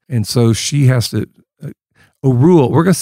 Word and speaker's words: Orual: Doris Myers says that looking at all the other names, she believes it should be pronounced Orual, not Orual or Oriole or Oprah. Those are all wrong.